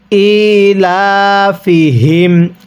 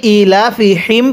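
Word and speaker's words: إِيلَافِهِمْ: ইলাফিহিম আরেকবার পড়বেন ইলাফিহিম। অনেকেই ইলাফিহিম পড়ি। এই গোল হাঁটি উচ্চারণের সময় মুখ দিয়ে বাতাস বের করি।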